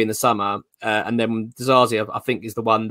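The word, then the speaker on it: Disasi: Is it Dzarzi? Is that how you pronounce his name? Dzarzi, yeah.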